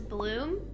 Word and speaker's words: Blume: comes together as Blume, B-L-U-M-E, and Blume means flower in German, which is a crazy coincidence. But it also, I think it can be pronounced as Bloom.